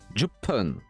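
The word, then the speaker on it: 十分: En gros, il se prononce pas parce que 1 c'est Ichi, c'est Hippon. 6 c'est Loku, Loppun. 8 c'est Hachi, Happun. Et 10 c'est Ju, Jupun. En fait, le pun va être plus prononcé. Le P va être plus fort.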